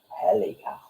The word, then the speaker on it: Helios: And I know it looks weird, but that's the way it's pronounced, is Helios.